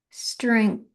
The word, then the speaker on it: strength: strength kind of don't you don't really hear the G. It's a hard G. It is it's kind of clipped in the back there of of your throat. Strength. Strength. Strength. You kind of kind of swallowing that G, but you got to hit it in there.